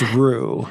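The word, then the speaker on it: Ruch: I never say his name correctly. It's Rook. It looks like Rook, R-U-C-H, but I believe it's Roux.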